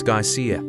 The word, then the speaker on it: geyser: The geyser, a word the Icelanders pronounce ga and which signifies fury, rose majestically from its summit.